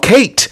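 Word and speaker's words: Khaite: It's called Kate, but it's pronounc it's it's spelled K H I A I T E, which in fact uh, means um, long hair in Greek.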